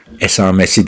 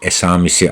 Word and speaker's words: esamisi: Esamesi değil esamisi arkadaşlar esamesi diyenler yanlış söylüyor.